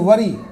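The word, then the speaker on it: worry: रहा है क्लियर है जैसे वरी डब्लू O double R वा वरी तो फिर भी तो यहां पर हमको वर तो नहीं पढ़ते क्या पढ़ते हैं वरी पढ़ते हैं वरी जबक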